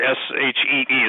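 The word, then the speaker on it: sidhe: I'm talking about creatures that have passed into our common vernacular, whether they're fairies, gnomes, brownies, sprites, the sea, the S-H-E-E, the she, which is spelled S-I-D-H-E.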